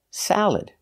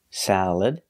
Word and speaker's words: salad: Again, the second syllable is not stressed, so you have three choices. You can use the schwa, salad, sound, salad. You can use the e sound, like eggs, salad, salad. Or the I sound, like milk, and this, salad, salad. Just make sure you put the stress on the first syllable.